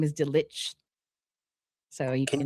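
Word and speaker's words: Delitzsch: So, uh his his um last name is Ditch. So, you can you uh can you spell that for the the non-tutonic?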